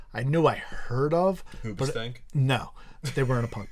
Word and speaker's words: Hoobastank: Hoobastank? No, they weren't a punk band. Ubastank is actually the proper way to pronounce it, but not Uba.